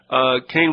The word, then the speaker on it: Kahn: He pronounces it Kane. It's K-A-H-N.